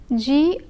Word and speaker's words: grande: the qualifying adjective, while grande is the feminine singular form of the adjective. Pronunciation wise, one hears the sound only in the feminine form. The letter D is not pronounced in the masculine form.